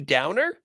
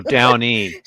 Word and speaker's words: Downey: to me yes Deborah Downey is girl one phis stug this girl too oh my stars her actual name is Debbie Downer Debbie Downer no Downey Downey my mistake not Downer Debbie Downer oh dear